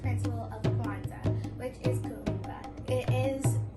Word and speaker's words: Kuumba: I want to tell you about the 6th principle of Kwanzaa, which is Kuumba. It is pronounced Kuumba.